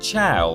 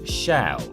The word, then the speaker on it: Chell: all the naysayers that it is absolutely pronounced CH and not shell GLaDOS herself says it